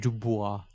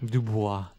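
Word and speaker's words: Du Bois: Okay, so we Harry got- Dubois. Right? not if you say it like that. Dubois.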